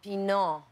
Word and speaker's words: Pinault: They said, no, Pinault. No. Like the wine. Pinault.